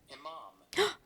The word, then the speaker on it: Imam: Imam, I still don't know if I'm, wait, let me see actually if I'm, Imam. I'm pronouncing it right.